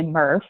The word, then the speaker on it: MRF: recovery facilities don't ask me why we say MuRF but MRF we pronounced first or you can just say recycling